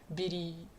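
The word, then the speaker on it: Viluy: But I feel like her Japanese pronunciation, like you take this, it's pretty closer to Bidi, yeah.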